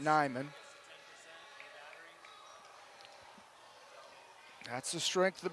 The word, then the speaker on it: Neiman: As we'll wrestle at 175, Xavier Palacios wrestling Parker Neiman. I believe they could pronounce it Nyman.